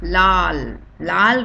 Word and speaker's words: लाल: So the first one is red color dress, red color apple, so we call it lal rang is red color, so we always pronounce it as lal.